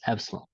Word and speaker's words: epsilon: electrometric force or Epsilon which looks like e but it's pronounced as Epsilon so this is a